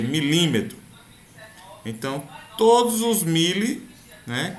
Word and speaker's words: milímetro: Que a gente pronuncia milímetro.